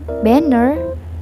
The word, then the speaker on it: banner: The same like apple, banner has two syllables and the first syllables was stressed and the second was unstressed.